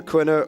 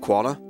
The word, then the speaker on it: Quina: So it's either Quina or I don't even know how I say it anymore. I used to pronounce it Quana. Apparently, that is the furthest it yeah, could be.